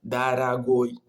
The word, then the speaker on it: дорогой: И вот почему два О, которые мы находим в начале слова, в середине D и G мы находим O, R, O. И вот O, два O это нет ударений. И вот мы читаем как А. И вот слово ее читается дорогой, нет дорогой. Мы читаем дорогой.